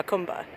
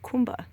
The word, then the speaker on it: Jacumba: renamed the hotel huh khumba which by the way one of the other signs says it's definitely pronounced how come but anyway so this